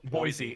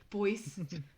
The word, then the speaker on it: Boise: Do you want it to turn into this Boise when it should be pronounced Boise.